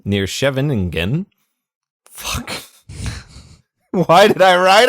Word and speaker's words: Scheveningen: Schustella 3, near Scheveningen. Scheveningen. There's an extra syllable in there.